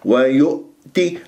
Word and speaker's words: ويؤتي: وألف ساكن قبلها ها مفتوح، ما الطبيعة حركتين، ويؤتي الهمزة، دائما عندي مشكلة في الهمزة الساكنة في